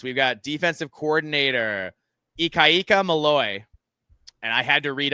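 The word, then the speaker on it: Malloe: So, defense, we've got defensive coordinator Ikayika Mallaloy. And I had to read a bunch of articles. It's not spelled Malloy, but it's pronounced Mallaloy.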